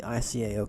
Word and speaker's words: ICAO: an airport I have no clue how to pronounce. 100% crystal clear that I'm going by it. I'm going via the ICAO code or ICAO.